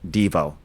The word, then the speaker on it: Devo: uh I'm like why Dvau? He goes, "Well, that was actually the original pronunciation of the band before they and then everyone just started calling it DVO."